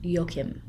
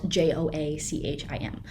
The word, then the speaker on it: Joachim: people talk about him actual German people talk about him and I'm pretty sure we call him yokim so that's what I'm going to call him yoke him spelled j-o-a-c-h-i-m I would have pronounced it as an English person Joachim but we're gonna go with yo Kim and this is Joachim